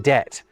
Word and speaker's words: debt: So what if I were to tell you that the P in receipt and B in debt were never pronounced?